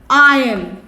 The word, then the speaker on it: iron: यहाँ पे when you write the word iron, the alphabet R is silent.